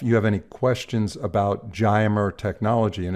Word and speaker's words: Giomer: We do occasionally, but this particular composite has a unique Geimer technology that other composites do not have.